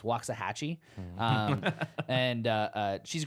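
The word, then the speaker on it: Waxahatchee: I and I believe I'm going to say this artist name correctly because it's spelled like the place in Texas waah Hatchi um and uh uh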